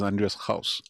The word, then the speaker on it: Andreas Gauss: playing in the Musa was that the real pronunciation of Andreas Gauss is Andreas Gauss.